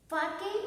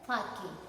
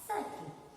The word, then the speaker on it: sake: So it is pronounced as fa in the father and k is rhymes with the way. So it is called as fake and it is not sake.